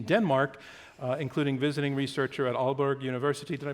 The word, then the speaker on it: Aalborg: hold positions in Denmark including visiting researcher at Aalborg University did I pronounce that correctly that's correct thank you and